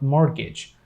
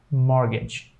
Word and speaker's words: mortgage: so they pronounce Mart mortgage but actually it should be pronounced as mortgage the T will be totally silent let's go to the